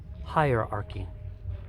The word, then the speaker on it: hierarchy: get the pronunciation right please repeat after me hierarchy high a arc II high or arc II little faster hierarchy hierarchy